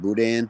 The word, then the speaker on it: boudin: The N is silent. Boudin instead of boudin, or boudin.